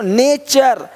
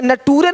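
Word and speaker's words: nature: Question नहीं question question देखो नेचर यहां पे नटूरे नहीं बोलते। नटूरे नहीं नेचर है ना यहां पे देखिए क्या दिया है?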